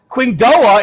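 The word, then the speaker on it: Qingdao: Qingdoa is pronounced King Do.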